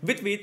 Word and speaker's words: Vite: I was a child, my mom used to say Vite, when she wanted me to do something fast. And I doubt she knew that that is fast in French, but the way she said it and the sound of it, it really sounds like a Vite, like be quick, let's go.